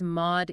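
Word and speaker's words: MAUDE: Primarily, the FDA's Mod E database. That's M A U D E pronounced MOD.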